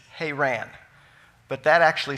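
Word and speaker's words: Haran: pronounce it like this but the correct pronunciation is hey ran but that actually sounds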